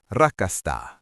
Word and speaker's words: rakastan: In Finnish, this is rakastan.